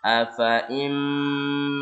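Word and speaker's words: أَفَإِين: Hati-hati fa-nya meskipun ada tulisan ada alifnya, ini fa-nya dibaca pendek. Cara bacanya afaim mata au qutila.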